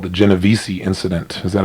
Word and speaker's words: Genovese: if I recall, I believe it's called the Genovese incident. Is that how it's pronounced?